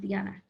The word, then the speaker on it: Diana: the time you guys so my name is spelled like diana but i'm hispanic and so it's pronounced diana so my whole life i've